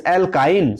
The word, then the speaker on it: alkyne: hex right so again since it is starting with the Y so pronunciation is like that uh I pronunciation is like I however it is not see a e i o uh they are your vs right please remember but this Y is not wal but when you pronounce this alkine so it pronounced like I so we will not